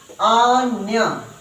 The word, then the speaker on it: अन्य: बोलते क्या बोलते नया लेकिन ये तो आधा न है और आधा ना है तो क्या बोलेंगे न्य न्य तो अ न्य अन्य अन्य ठीक है जी